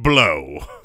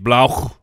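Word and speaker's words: Blough: who's the backup Jay I believe it is pronounced David blow I've we don't I don't know for sure yeah is that how you would pronounce that Mike the L Oh ugh I would not blah blah either way it's gonna blow they maybe need more emphasis on the gh blow yeah germán yes yeah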